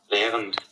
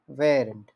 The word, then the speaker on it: Während: আমরা দেখি এটা উচ্চারণ কিভাবে বলে। Während. Während. Während. Während. Während. Während. Während. বলেন তো, উচ্চারণ করেন তো। ভেরেন্ট, ভেরেন্ট, genau। আর কেউ? ভেরেন্ট বলেন। ভেরেন্ট, genau। ভেরেন্ট।